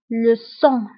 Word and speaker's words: sang: كنكتبوها بالجي في اخر الكلمه ولكن لا تنطق le sang.